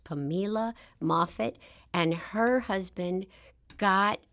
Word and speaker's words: Pamela: to live with his sister it looks like Pamela but it's actually pronounced pamila mait and her husband got Twain his pilot's